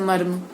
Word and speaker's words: मर्म: इस स्थिति में शब्द का पहला वर्ण पूरा होगा, र आधा होगा और तीसरा अंतिम वर्ण भी पूरा उच्चारित होगा, जैसे मर्म।